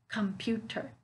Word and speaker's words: computer: I'm saying it all the way through, but I'm still stressing on the syllable, the second syllable, right?